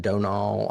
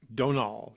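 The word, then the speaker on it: Domhnall: And it is pronounced Donal. I looked that up because it's spelled with an M, and the M is silent. Donal. Yep. Donal.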